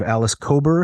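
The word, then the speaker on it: Alice Kober: that the way you told the story of Alice cobber am I pronouncing her name correctly yes yes the story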